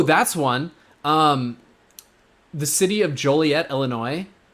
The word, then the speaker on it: Joliet: The city of Joliet, Illinois, it is actually illegal to pronounce it Juliet.